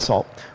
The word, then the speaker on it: NaCl: tell you about is this new salt library nacl so pronounce that salt which is aiming at